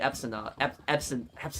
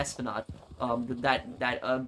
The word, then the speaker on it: Esplanade: He cared about money, and he knew that they were making money through the Epsonad. I keep saying it wrong. The Esplanade.